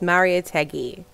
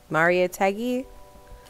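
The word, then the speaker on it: Mariátegui: else i'll go okay so it's maria teggy maria teggy that's how we're pronouncing it okay okay i'm gonna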